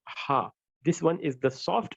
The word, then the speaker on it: ھ: It is just close to the letter H in English, but it's not exactly the same because the Arabic ha, the soft ha that we are pointing right here, is a deep sound and a long sound.